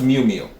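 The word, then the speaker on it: Miu Miu: and the creator of I believe is pronounced Mew Mew m-i-u-m-i-u so it says strike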